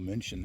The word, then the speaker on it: München: Rothschwaige is presumably a town near Munich, or München as it's pronounced in German.